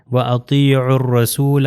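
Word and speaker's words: أطيعوا الرسول: Example میں آپ دیکھیے وَأَطِيعُوا الرَّسُولَ، یہ دیکھیے واو الف اس میں نہیں پڑھا جائے گا، اس میں بھی الف اور لام نہیں پڑھا جائے گا، تو یہ ہو جائے گا وَأَطِيعُوا الرَّسُولَ۔ یعنی ان جو دو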